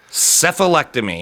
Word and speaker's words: cephalectomy: go number one cephalectomy cephalectomy and that begins with a c it's a soft c that is the removal